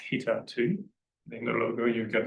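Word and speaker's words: httr2: big one is HTTR 2 which apparently is pronounced hter 2 in the logo you get a baseball thing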